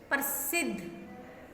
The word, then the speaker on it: प्रसिद्ध: प्रसिद्ध, ये आधा ध है, प्रसिद्ध।